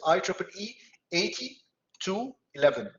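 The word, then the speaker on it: IEEE 802.11: it's it's pronounced like this i triple e 80 to 11.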